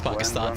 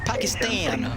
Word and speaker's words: Pakistan: of thing, yeah, so that is the right way to pronounce Pakistan for sure, though. A lot of people stateside tend to pronounce it Pakistan, which I don't like at all.